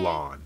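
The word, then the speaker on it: Lann: Lon. Besides her? That's how you pronounce it.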